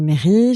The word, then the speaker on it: Mary: Donc en Mary. fait, ça se prononce Mary. Bon après, je vais te dire, mon père m'appelle Marie parce que je suis espagnole au départ.